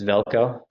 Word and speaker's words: Velko: So like for Velch, is Velch, have trouble pronouncing your name. It's Velko.